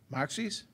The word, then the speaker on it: Moxie's: hosting great and then we're going to pronounce this the right way Maxie's Maxie's restaurant tonight for those of you at 1500 3 p.m.